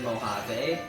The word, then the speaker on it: Mojave: released after high sierra that's pronounced like mojave give me such a